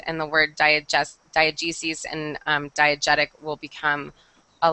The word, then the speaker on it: diegesis: Okay, this next one, this word is pronounced diegesis.